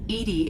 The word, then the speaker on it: EDI: it out there why are you named edie edie is the phonetic pronunciation of edi that is an acronym for